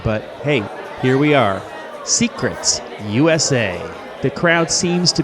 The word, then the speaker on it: Seacrets: are coming at you from secrets that's spelled s e a c a jamaican-themed bar